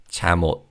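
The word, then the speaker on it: 잠옷: And again in terms of pronunciation because the second syllable begins with an consonant theim in the first syllable carries over to the second syllable. So when we say this word quickly it's chamot. Let's practice saying this word.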